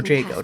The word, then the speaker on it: Jago: Mother Jago, that's how you say it.